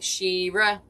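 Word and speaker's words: She-Ra: But Shira, it's spelled exactly. It was S-H-E and then -R-A. Shira.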